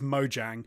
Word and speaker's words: Mojang: um I'm being told in the chat it's Mojang and I also mispronounced Marcus person but you've written in the